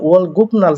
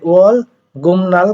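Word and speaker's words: 월급날: এখন দেখেন এখানে ওয়াল গুপনাল তো উচ্চারণ হয়, তাহলে আমি কেন গুমনাল পড়লাম? আপনারা তো জানেন বিউব বাচ্চিমের পরে কিসের পরে? বিউব বাচ্চিমের পরে নিউন আসলে বিউবটা কি হয়? ম হয়।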